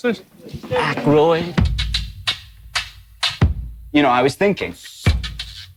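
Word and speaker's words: Aykroyd: How the fuck do you pronounce this? Ackroyd.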